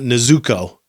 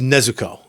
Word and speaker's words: Nezuko: I'm so glad I got into Demon Slayer because I learned that you don't put the emphasis on the second syllable. It's not Nezuko. Yes. It's Nezuko. Yes.